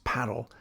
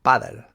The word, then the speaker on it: padel: I must note that the machine only knows how to pronounce paddle the American way, padel, as opposed to pádel, like our Spanish friends.